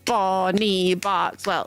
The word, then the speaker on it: Barkswell: Barkswell is, you know, it's two syllables. Bonnie Barkswell. B Bonnie Barkswell. Like it just rolls off the tongue.